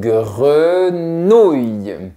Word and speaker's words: grenouille: Donc, on force bien le son qui est ici. Nouille. Ça me fait penser aux nouilles. Aux nouilles. C'est une grenouille qui mange des nouilles. Très bien. Attention à pas trop forcer le i à la fin. C'est comme ça, c'est nouille. Nouille. Très bien. Parce que c'est le son ou qui est un peu plus fort.